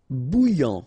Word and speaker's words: bouillant: Bouillant, final T not pronounced. A-N together, remember, nasal, en, okay? And then here you get bou, alright? And after that you get this yan, okay?